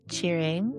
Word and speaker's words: Tshering: I'd asked you uh how to pronounce your name and you said cheering and then your surname which is Eden you said is pronounced differently.